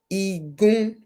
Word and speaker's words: Igun: Igun. Remember I was saying the I is pronounced like E. Igun.